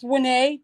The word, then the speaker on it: Wene: Pronounced Wene, W-E-N-E.